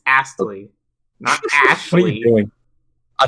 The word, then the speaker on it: Astley: the why do you say ashley yeah it's astley what are you doing i thought you were